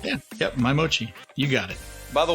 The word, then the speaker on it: My/Mochi: that am i saying it right yeah yep my mochi you got it by the way ever since